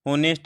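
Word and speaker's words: honest: यहाँ पर जो ऑनेस्ट वर्ड है, इसकी जो साउंड है, इसका जो प्रोनाउंसिएशन है वो वोवल है।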